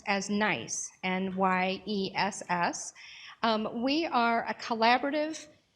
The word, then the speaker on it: NYESS: So we're going to start with the New York Employment Services System, which we pronounce as NYESS, N-Y-E-S-S.